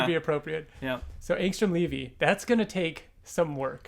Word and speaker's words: Angstrom Levy: So the correct pronunciation is Angstrom Levy.